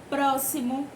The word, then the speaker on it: próximo: Próximo, texto. Essas são palavras que são escritas com a letra X, porém, quando pronunciadas, tem um som de S, certo?